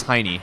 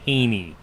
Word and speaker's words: Heine: It is Heine. So Heine. I think I've been saying Haney.